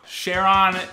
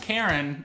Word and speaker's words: Charon: my Shona for you Sheron not pronounced Karen although that would be mythologically correct one of Pluto's five